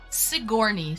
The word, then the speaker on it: Sigourney: But how's it pronounced? Sigourney.